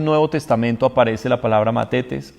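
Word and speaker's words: μαθητής: griego es la palabra mates mate test se puede pronunciar como una th o como una de mates mates o más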